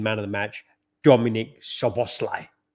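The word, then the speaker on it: Szoboszlai: of the match Dominic soboslai yes I pronounced that right so bosslai he's the boss he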